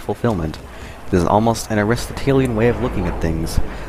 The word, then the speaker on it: Aristotelian: Aristotelian. That's how my philosophy professor pronounced it.